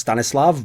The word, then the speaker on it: Stanislav: stanislav which interesting that everyone calls him Stannis because actually that name if you go to easn Europe is pronounced stanislav but whatever is probably